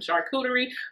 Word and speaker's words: charcuterie: where it's just the two of y'all, some charcuterie, a great hostess, that is how you say that.